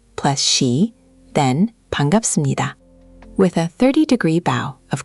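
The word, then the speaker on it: 반갑습니다: Ji-hoon, you'd say Ji-hoon-shi bangapseumnida. That bangapseumnida means nice to meet you. Bangapseumnida. Nice to meet you. Let's get that pronunciation crisp. It's ban gap The gap sound should pop a little.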